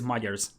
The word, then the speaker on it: Magyars: I like how Lida says Magyars because that's how you pronounce Magyars.